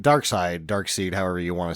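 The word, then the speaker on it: Darkseid: tough but he's not dark seed Dark Side dark seed however you want to say it it's spelled seed but I guess they pronounce it dark side especially in the movie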